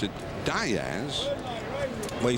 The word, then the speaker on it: Diaz: Diz the name would more correctly be said Diaz but in his family they pronounce it Diaz well he said his great-grandfather did it John